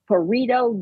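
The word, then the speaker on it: Pareto: created by how do you say that again parito distribution uh it's spelled pit y parito p a r e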